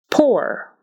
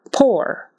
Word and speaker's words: poor: we pronounce them differently poor is pronounced as if it was just an o r and sour is pronounced